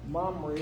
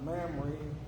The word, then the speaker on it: Mamre: Now, this place, this Mamre or Mamre, whichever way you want to pronounce it, what have we found out in the past in our studies about this place?